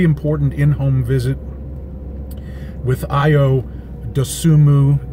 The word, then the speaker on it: Dosunmu: Basketball last night, really important in-home visit with Io Dosunmu. There's an N in his last name, you don't pronounce it.